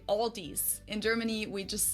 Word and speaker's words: Aldi: In English people usually pronounce this Aldi. I think I've also heard Aldi before, but I think most people say Aldi. I say Aldi.